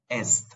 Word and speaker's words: est: So we pronounce it as est, dans l'est de la France.